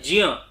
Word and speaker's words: ज्ञ: उच्चारण ज्ञ के रूप में होता है लेकिन एक्चुअल में वो है ज और इय, ज्ञ। इस तरीके से उच्चारण है इसका।